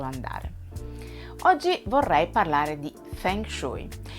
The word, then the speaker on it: Feng Shui: Il Feng Shui, la cui pronuncia corretta dovrebbe essere Feng Shui, è una disciplina antica, profonda e affascinante.